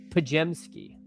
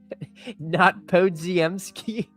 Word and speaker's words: Podziemski: Pajemski. Not Podziemski. Who could have foreseen me getting this name wrong?